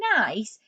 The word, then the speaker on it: nice: And in the word nice, it's making the soft C sound, where it sounds more like the letter S, ice. So it's using the letter C, but it's making the S sound.